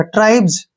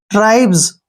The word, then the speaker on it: tribes: ट्राई, TRI, ट्राई, BES, जय पढ़ेंगे इसको, क्योंकि लास्ट में S आया और उससे पहले BE आया है, तो जय, जय का उच्चारण होगा। ट्राइब्स, क्या पढ़ेंगे? ट्राइब्स, ठीक है ना।